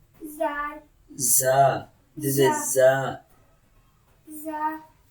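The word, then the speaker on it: ذ: So zal is very soft letter. Okay, dal. zal, Dal, when dal pronounce dal, tongue touches between the teeth.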